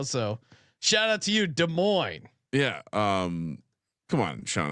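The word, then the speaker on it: Des Moines: oh where is it de Moes Iowa I'll give you a second guess de Mo's Iowa beautiful uh beautiful Iowa I believe the I believe the S is silent de Mo Jesus Christ we're gonna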